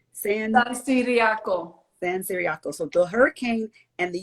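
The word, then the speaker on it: San Ciriaco: invasion after the hurricane well how's the hurricane pronounced san diego san siriaco so the hurricane and the u.s invasion caused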